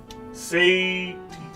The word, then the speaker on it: satiety: How you pronounce this goddamn word? Satiety. Satiety. Oh, I did say it right. Satiety. Okay, I thought I was saying it wrong, but no, I said it right.